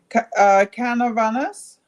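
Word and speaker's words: Canóvanas: Canovanas. Canovanas. Great. Canovanas. It is nice. I love Okay, I Canova. think it's nice too. I'm excited. I love Canovanas.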